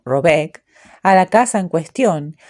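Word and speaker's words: Råbäck: Llamaré Rabeck, pronúnciese algo así como Robeck, a la casa en cuestión, aunque no es este su verdadero nombre.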